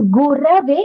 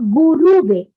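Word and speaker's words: गुरवे: script, the Devanagari script, it is gurave. It is not guruve. It has to be Gurave. gurave. Yeah. Because when you offer pronounce, that time you say gurave.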